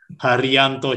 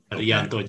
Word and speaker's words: Harijanto: Harijanto. So the J is silent. Harijanto.